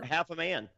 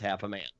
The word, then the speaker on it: Hafemann: I was like, out of curiosity, do you pronounce that half a man? He goes, 100%. It is pronounced half a man.